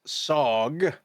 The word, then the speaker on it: SOG: Nona, Space Olive Garden, SOG for short, pronounced SOG, with like 7 Gs, like you're falling into a lasagna pit, set out to bring